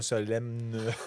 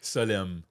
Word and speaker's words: Solemn: Mais moi, je ne le prononce pas comme toi, moi, Solemne. Répète-moi le nom, moi. Solemne. En fait, le M, il est muet. C'est un N muet.